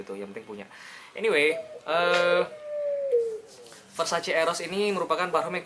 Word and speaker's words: Versace: Ya, pronounce-nya itu bukan Versace, Versace atau Versace. Tapi it's Versace. Dibaca apa adanya seperti orang Indonesia. It's Versace, ladies. Begitu kata Donatella Versace.